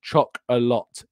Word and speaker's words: Chocolat: So even though it's chocolate cake, it's chocolat is the name of the actual cake. So I'm not going mad, Jordan. I'm not mispronouncing it. That's just what it's called. It's choc-a-lot. That is how it's actually named.